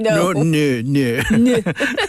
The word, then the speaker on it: non: Like no. No.